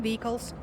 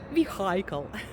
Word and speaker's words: vehicle: aircraft technical and Engineering Vehicles you know I pronounce the W vehicle correctly thank you so much because in my last video I told vle but now I'm absolutely right and tanks and armored